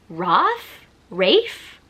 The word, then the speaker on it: Rafe: So his full name is Raphael. So I'm assuming they shorten it. So I'm assuming it's Rafe?